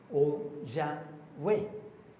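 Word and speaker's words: Yahweh: Entonces, los grandes estudiosos han sugerido que la pronunciación podría haber sido y o wa o ya wa Yahwe, sí, porque como les digo, se perdió el el sonido consonántico original.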